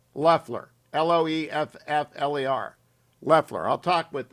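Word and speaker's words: Loeffler: the 51st senator kelly leffler loffler i think it's loffler am i saying it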